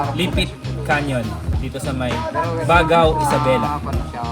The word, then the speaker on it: Baggao: canyon dito sa may bagao Isabela Paano po pronounce bag bag bagao pala bago Isabela ah Cagayan